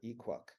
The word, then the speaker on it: EQUC: So he invented what he called expanded quantitative urine culture, or EQUC. Rhymes with duck.